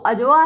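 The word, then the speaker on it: Adjoa: मुख्य पात्र है वो ए डी जे ओ ए तो यहां डी साइलेंट रहेगा अ तो अजवा है अ लिटिल अफ्रीकन गर्ल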